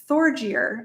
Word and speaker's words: Thorgeir: This example comes from one of my patrons who told me about Thorgeir. I might be pronouncing that wrong. It's Thor, Thor, and then Geir.